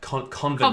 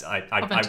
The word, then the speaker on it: Covent: I'm terrified of pronouncing that wrong, but Convent Gardens. Covent. Yeah, that's Covent Gardens.